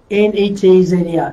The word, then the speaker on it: Netzer: The Hebrew word for branch is, I'm going to write, Netzer, N-E-T-Z-E-R, Netzer, right?